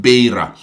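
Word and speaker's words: Beira: you actually helped me I get the right pronunciation called Baya Baya is a port city in mosambique that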